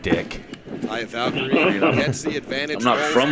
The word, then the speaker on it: Taya: Taya, that's how you say her name.